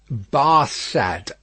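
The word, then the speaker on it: Barsad: the better his name barca said to farge making it french by pronunciation but he had been so careful to get it accurately that he then spelt it with perfect correctness bar sad repeated madame good christian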